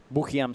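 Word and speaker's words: Boukhiam: look at this Ramsey buam buam sorry as they pronounce it in Morocco just going to town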